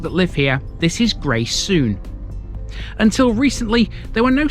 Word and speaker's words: Greysouthen: the screen right now this is one of those Villages that's pronounced differently if you're a local so the folk that live here this is gray soon until recently there were